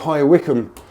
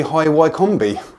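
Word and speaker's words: High Wycombe: I Americans tend to struggle sometimes with the pronunciations with the spelling I mean there's a place called high Wickam that's not too far away from where we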